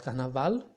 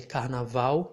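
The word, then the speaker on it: carnaval: like fuchsia not football not canaval you can say if you want but the majority of the people here of the native speakers will say kana vow future this class is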